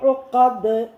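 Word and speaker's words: عقد: ഉഖദ് ഐനാണ്, അലിഫിൻ്റെ ഉച്ചാരണം വരരുത്. അലിഫല്ല, ഐനാണ്. ഉഖദ് തൊണ്ടയെന്ന് പറഞ്ഞാൽ നമ്മുടെ ഈ പിന്നെ തൊണ്ടയുണ്ടല്ലോ നടുവിലെ ആ കുരക്കിൻ്റെ തൊണ്ടയുടെ നടുഭാഗത്ത് നിന്ന് ഉഖദ് വികസിക്കണം. ഉള്ളിൽ നിന്ന് വരണം, തൊണ്ടയുടെ ഉള്ളിൽ നിന്ന് വരണം.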